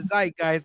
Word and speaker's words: zeitgeist: We wanted John to come in and talk about the zeitgeist because we was talking about it, John. Yeah, I believe it's pronounced Zeitgeist, but it really don't matter how you say it.